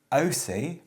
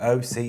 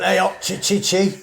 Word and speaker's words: Aoocci: we have been sent by a company called OC and that is how you pronounce it apparently there's loads of different pronunciations a o o c c i is how they we have to